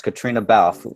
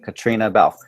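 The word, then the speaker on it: Caitriona Balfe: when they announce it they're not going to be able to pronounce her name but it's Katrina Bal whoever's going to you know open that envelope Katrina Bal she's winning do you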